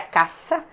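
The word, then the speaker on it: आकाश: li né Nós vimos que o acaixa é uma palavra em sânscrito e significa a pronúncia seria caça e significa o éter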